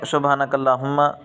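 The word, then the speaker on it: سبحانك اللهم: حضرات کر جاتے ہیں۔ تو صحیح تلفظ یہ ہے سبحانک اللہم، سبحانک اللہم، ہم، اس ہا کو سینے سے نکالنا ہے اور اس ہا کو گلے سے نکالنا ہے۔ لام کے اوپر کھڑی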